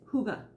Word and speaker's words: hygge: okay hygge it's spelled h-y-g-g-e i know we need smell-o-vision hygge hygge but it's it's huga that's how you say it i just sing that